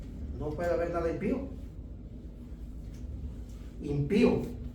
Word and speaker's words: impío: Impío, así se pronuncia, impío. Impío, no impio. Impío. Impío. Acento en la después de la p y impío.